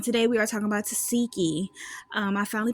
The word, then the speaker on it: Tesehki: y'all, welcome back to Mirror Reviews, and today we are talking about Tesehki. I finally pronounced her name right, yay!